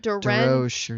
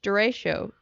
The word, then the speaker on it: derecho: How do you say it? It starts with a D. DeRoche or something. Iowa land hurricane. Derecho. Yeah. Derecho.